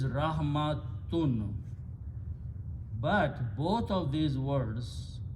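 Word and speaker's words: رحمة: You do not pronounce the ya. This is rahmatun.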